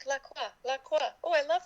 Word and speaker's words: LaCroix: When you guys have LaCroix, we call it La Croix. La Croix, yeah. Because that's how it's French. It's a French word. And so we say it like the right way. Yeah. Except that I think the makers of LaCroix call it LaCroix. So I think I'm in the wrong.